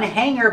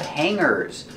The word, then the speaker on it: hanger: have a lot of hangers remember the pronunciation we don't say hanger we don't make a hard goo sound for the Jeep we pronounce it hanger with a sound in our nose hanger hanger this is